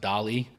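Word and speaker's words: DALL-E: think is powered by is it pronounced Dali got it right and I got some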